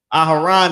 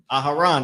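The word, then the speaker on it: אהרן: Aharon is Aaron. Aharon, that's how you say it.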